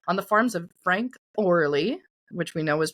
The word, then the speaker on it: Orley: tabulated on Thursday on the farms of Frank Orley, which we know is pronounced early.